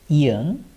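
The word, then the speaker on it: 이응: like t okay and this one is super important ian ian and it doesn't have any sound when it's used as the first consonant it only has the sound of okay and next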